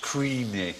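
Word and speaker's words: Cruithne: he well remembered corinthians the spelling exactly right but supposedly pronounced creamy or something like that well it was discovered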